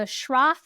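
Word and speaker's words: Schroth: know you specialize in the shra method which I just learned how to say thank you pronunciation yay I got it right we just learned it as a German word so I'm getting it right so how does it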